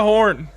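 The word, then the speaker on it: Horne: And Jeriah Horn was Nope. so awesome. The E is silent, in case you haven't heard.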